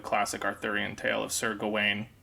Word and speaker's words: Gawain: But, Sir or Gawain is the common. I don't know if it's the English pronunciation. It's definitely the American one. But I did see, like, looking it up, that like Gawain is probably the more correct pronunciation. Although both are acceptable.